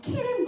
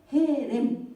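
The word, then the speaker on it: חרם: 근데 한글로는 같이 해라고 쓰지만 원래는 이걸 발음할 때 약간 가래 끓는 것처럼 이렇게 해야 돼요. 근데 이제 그걸 우리말로 어떻게 쓸 그 방법이 그렇다고 케렘 그런 건 아니거든요.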